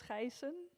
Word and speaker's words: Geijsen: It's Geijsen. It's Dutch, but the name is actually Austrian.